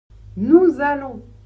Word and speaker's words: nous allons: Nous allons, nous allons attention là le verbe commence par un a, donc une voyelle. Ce qui veut dire que vous devez faire la liaison et prononcer le s de nous comme un Z. Z. Le A comme un A, les deux L comme un seul.